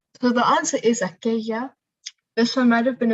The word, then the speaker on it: aquella: But this man is from a place where they would say aquella, where the L sound becomes a sh sound. So the answer is aquella.